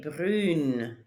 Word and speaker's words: brune: Il est brun, elle est brune. That one changes the pronunciation quite a bit.